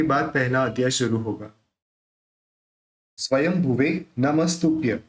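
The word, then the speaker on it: स्वयंभुवे: पहला अध्याय शुरू होगा स्वयं भवे नमस्तय देखिए य जो बिंदी है उस बिंदी का उच्चारण अपन य जो बिंदी है उस बिंदी का उच्चारण अपन म से करेंगे आप कहेंगे म से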